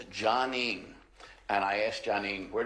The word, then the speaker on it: Jonene: Now that I'm older, I'm very much like, it's Jonene, named after my dad.